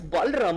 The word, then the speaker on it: Balram: this is is it Barlam? Is it Barlam? I'm not really sure how do you pronounce that. This is Balram.